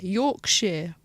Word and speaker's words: Yorkshire: Yorkshire, but it's spelt Shire. It's Sheer.